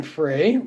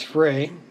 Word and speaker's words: Frey: here we got Glenn Fry Glenn Fry I do believe it's Frey but uh I've heard it pronounced fry as well the Heat Is